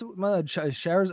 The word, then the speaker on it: Charizard: Is this Charizard?